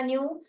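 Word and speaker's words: knew: भी न्यू होता है यहां पर के साइलेंट है यह वाला न्यू तो कांटेक्ट में हमको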